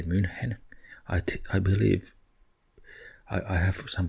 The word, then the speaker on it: München: Maybe they have that Munich, what we say München.